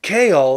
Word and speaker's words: Chaol: They're also traveling with this guy who spells his name Chaol and they pronounce it Kaol.